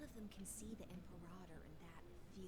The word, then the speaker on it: Imperator: Imperator is the proper way to pronounce that word. It doesn't look right and it doesn't sound right, but that is how you pronounce the word.